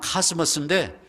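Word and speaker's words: cosmos: 코스모스가 영어 발음은 카스모스인데 질서란 뜻이에요.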